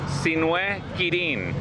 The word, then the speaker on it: Sin Quirin: Or, if you want the correct pronunciation, I'll say my entire full name. Sin Quirin.